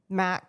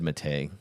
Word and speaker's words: matte: It's Is it called Matte, actually? Yeah. I always said mate. Like, it's cuz it's spelled M A T Te, right?